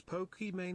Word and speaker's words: Pokimane: bro so donated $2 was Poke Man actually meant to be pronounced like Pokemon yep cuz my name's IM